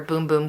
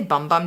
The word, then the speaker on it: Bum Bum: bum bum cream or boom-boom cream I say bum bum just cuz it's fun but I think it is pronounced boom-boom cream so if you haven't